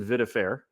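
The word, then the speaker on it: Vidfair: so that's that's uh yeah that's just at viair it's eight letters you can say VA if you want VI D then F AI r as in fairness I pronounce it viair but it's just VI da F air so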